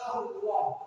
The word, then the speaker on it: Allah: Terus yang selanjutnya, Bapak juga tidak boleh membaca takbir itu lamnya tidak dibaca lam jalalah. Lam jalalah itu kalimat Allah itu. Bapak membacanya Allah itu sudah tidak salah. Itu harus Allah karena itu lam jalalah.